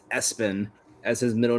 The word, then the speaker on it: ESPN: His sports obsessed father legally put ESPN pronounced Espen as his middle name